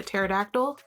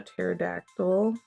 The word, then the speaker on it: pterodactyl: Okay, we know that it starts with a P because the P is silent. PT. Oh, where are my post-it notes? Hold on, let me test with a post-it note. Pterodactyl.